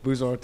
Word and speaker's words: Boezaart: Ted Boezaart is the way to pronounce it.